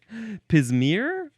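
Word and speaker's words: pismire: How do you pronounce this word? Pissmeer. Pismir.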